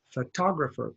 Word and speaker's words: photographer: is the word photographer the stress is on this one and it this actually is ah it's not full is relaxed I don't say all tah grow for photography photographer please repeat that photographer now this